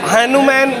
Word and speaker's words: HanuMan: काफी लगा हनुमान का हनुमन हो गया है हनुमन यस you pronounce it right हनुमन किया गया है सुपर